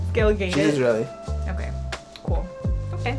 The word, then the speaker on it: Gal Gadot: Gal Gadot, right? Is that how you say it, or is it Gal Gadot? Gal Gadot. Gal Gadot.